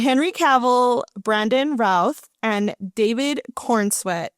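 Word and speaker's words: Cavill: I never know how to say his name cuz my mom says Cavil and I know that's Now you said it right. Henry Caval.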